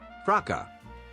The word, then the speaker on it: fracas: Fraka. Fraka. Okay, the S is silent.